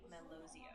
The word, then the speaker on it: Melozio: So, how about Coffee Melozio? Great question. In that case, you'd say it as coffee melozio.